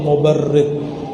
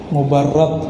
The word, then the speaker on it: mubarrad: Man ra'a wajhaka yas'ad ya karimal walidaini, hauduka safil mubarrid, wirduna yawman nusyuri. Mubarrad bacanya, as-safil mubarrad. Wahai karimal walidain.